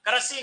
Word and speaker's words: कृषि: लिए कुर्सी कृषि भवन कृषि नहीं कृषि भवन इसका उच्चारण क्या है कृषि भवन पृथ्वी ऋ की